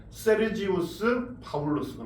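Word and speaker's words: Sergius Paulus: 우리 말로는 그렇게 발음하지만 세르지우스 파울루스가 나오죠. 라틴어로.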